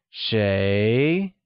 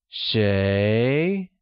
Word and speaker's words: 谁: Who translates to 谁, which is pronounced with a mid-rising tone. Let's hear you say 谁.